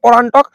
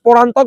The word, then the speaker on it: পরান্তক: মিলিত বাহিনীকে পরাজিত করেন তোমরাও কোথাও দেখতে পাবে পরান্টক এটা পরান্তক বা পরান্তক পরান্তক বললেও উচ্চারণের ঠিক প্রথম পরান্তক পান্ড ও